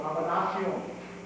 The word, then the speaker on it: combinación: This is actually more of a Spanish term, it's called combinación, is the way you pronounce it in the Philippines.